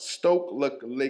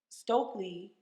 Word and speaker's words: Stokely: But let's talk a little bit about Stoke Le Carmichael. Did I say it right? Stokely Carmichael.